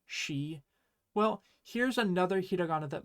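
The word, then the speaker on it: し: Remember last time when we learned the character she, and I said you were going to think it was si, but that it's actually she?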